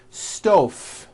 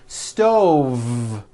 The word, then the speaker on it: stove: here's the first word sto I cooked dinner on a hot stove was that correct no I should have said stove stove I cooked dinner on